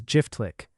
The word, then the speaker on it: Jiftlik: In Turkish, these royal estates were called Çiftlik, which the locals pronounced as Jiftlik.